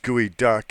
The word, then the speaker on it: geoduck: Geoduck is the world's largest burrowing clan. It's sashimi is a Seattle specialty. Doesn't sound kosher. It's actually pronounced gooey duck.